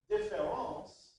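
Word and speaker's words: différance: word that means difference differance pronounced exactly the same way but with an a is dar's own unique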